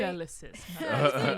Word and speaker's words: Felicis: Is that how you pronounce it? I don't know. I'm probably wrong, and I'll get Felix yelled at. Felicis is the way Felix that- really? Felicis.